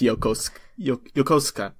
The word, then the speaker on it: Yokosuka: It's Yokosuka.